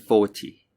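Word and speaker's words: forty: could you hear it for numbers in the teens the second syllable the teen is stressed for multiples of 10 the first syllable is stressed so it's 14 and 40.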